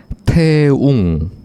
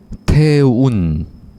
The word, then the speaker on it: 태웅: 태웅, 아, 네네. 2번 태운. 아, 두 번째는 니은? 맞아요. 아. 근데 네.